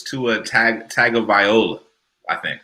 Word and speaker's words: Tagovailoa: I can pronounce it properly. It's Tua Tagovailoa, I think. Tagovailoa, yes.